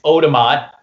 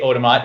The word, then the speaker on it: Otamot: seen it before right it's Odom on I mean I say Odom on it's tomato spelled backwards hmmm I started it